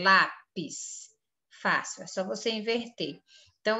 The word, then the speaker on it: lápis: fábrica aqui nessa linha a palavra lápis a sílaba mais forte é lá então o PIS é a última sílaba e lá é a penúltima sílaba quando a penúltima sílaba mais forte essa palavra é paroxítona você vem aqui escreve